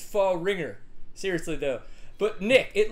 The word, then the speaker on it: Fahringer: Nick Fahringer, that's not just a name that you may not know how to pronounce. It's Fahringer.